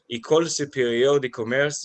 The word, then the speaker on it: École Supérieure de Commerce: You obtained your MBA degree from École Supérieure de Commerce of Toulouse.